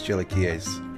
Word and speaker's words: chilaquiles: In the videos where I've seen it being made by people of Mexican descent, they pronounced it as chilaquiles. So that's the pronunciation I'm going with.